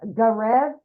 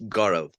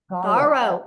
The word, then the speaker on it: Gaurav: We got, is it Garev? Yeah, hi. Hello. How do you say your name, my friend? It's Gaurav. Gaurav.